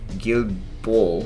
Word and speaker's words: Guilbeault: greenhouse gas emission reductions, Federal Environmental Minister Stephen Guilbeault, I believe that's how you pronounce his name, told a press conference.